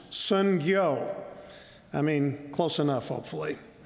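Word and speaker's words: 선교: He says the word mission in Korean is pronounced sungyo.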